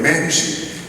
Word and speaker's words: Mamshit: I had to really learn how to pronounce that, otherwise I would be swearing here. It's spelled in a horrible way, but Mamshit is the way you say it.